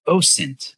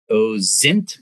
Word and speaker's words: OSINT: and in our discipline it's pronounced osint with an s it's not o zint with a z and it's not ozint